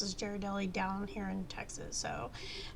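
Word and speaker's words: Ghirardelli: some pronounce it as gelli some pronounce it as jardelli I guess it depends on where you're from um but I'm I'm going to pronounce it as Jared Deli because I I guess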